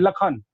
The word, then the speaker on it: लक्षण: आप लिखते कुछ है, आप रामचरितमानस पढ़िए, वहां पे पेट कटा श, जिसको मूर्धन्य श बोलते हैं, लेकिन उसका उच्चारण ख करते हैं, लखन। आप देखेंगे वहां लिखा रहेगा लक्षण, अब बोलते हैं उसको लखन।